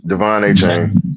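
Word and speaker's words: De'Von Achane: Devon A Chain.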